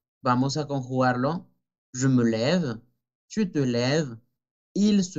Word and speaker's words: lève: Porque ya tengo dos veces la E francesa, je me, y no puedo decir lève, ¿ok?